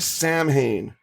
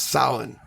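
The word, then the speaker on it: Samhain: So um Halloween originated in the ancient Celtic festival of now if you look at it looks like Sam Hayne that is not how it is pronounced. It's actually pronounced salin and it's when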